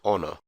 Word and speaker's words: honor: elsewhere h for hotel the letter h can also be pronounced silently as in honor i for india j